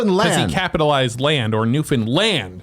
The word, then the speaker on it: Newfoundland: This from Derek from Newfoundland.